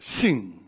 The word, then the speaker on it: Shin: take the letter Shin, that's pronounced with your teeth. Shin, you see? You have to put your teeth together, Shin.